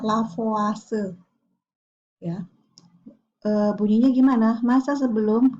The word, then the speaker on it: Lavoisier: pembukaan masa penemunya adalah lavoisier tulisannya bacanya lavase Ya bunyinya gimana masa